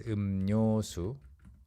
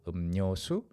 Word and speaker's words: 음료수: It's pronounced as 음료수, okay? Because mium and then 리을 together, it's really, really hard to pronounce accurately when you're saying it quickly. 음료수, it's too much effort and it sounds forced. So you go 음료수.